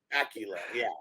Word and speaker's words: Bakula: I'm not sure how to pronounce his last name. Scott Bakula. Oh no, sorry, Scott. I think Bakula. Bakula.